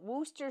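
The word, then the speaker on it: Worcestershire: bourbon hillbilly no no no wooster sauce you need to don't don't need to shear it's like a rooster i like to think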